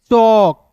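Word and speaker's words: chalk: ठीक है, चलिए उसके बाद देखिए सी एच का च, एल के एक साथ रहेगा तो यहाँ पे दोस्तों एल साइलेंट होगा, क्लियर है? और ए का उच्चारण औ के रूप में होगा, के का क, चौक।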